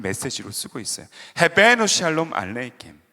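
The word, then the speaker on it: עליכם: 헤베누 샬롬 알레켐, 알레헴 이렇게도 발음을 하고 있는데, 헤베누 샬롬 알레이켐, 따라해 봅시다.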